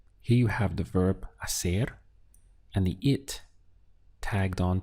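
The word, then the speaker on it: hacer: have an h but in spanish pronunciation the h is always silent it's ignored so your pronunciation really starts from here we have a ser aser is the verb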